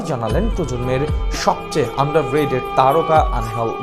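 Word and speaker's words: Ángel: অবশ্য বাংলা উচ্চারণটা আনহেল, ইংরেজিদের নামের বানানে অ্যাঞ্জেল, অনেকে উচ্চারণ করেন অ্যাঞ্জেল নামে।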